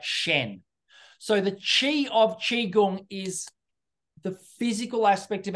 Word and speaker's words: qigong: Okay, well, while I think of that, let's move on to qigong. Is that how you pronounce it?